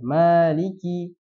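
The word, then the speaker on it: مَالِكِ: kita pakainya hafz ya maka kita harus panjangkan Maliki nah Adapun ketika kita di belakang imam yang mungkin memiliki warsy dia bacanya Maliki maka kita tidak perlu membatalkan Salat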